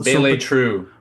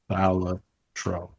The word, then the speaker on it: Balatro: How to pronounce Balatro? Bele True. Okay, this says Balatro. Okay, well, modern Italian. Balatro. That was right.